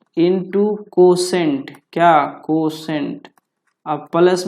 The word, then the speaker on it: quotient: भागफल को अंग्रेजी में कोसेंट बोला जाता है। भागफल को अंग्रेजी में कोसेंट बोलते हैं। This is called कोसेंट। क्या? कोसेंट का स्पेलिंग देख लीजिएगा, QUO है ना। क्या होता है? QUOTIENT, कोसेंट।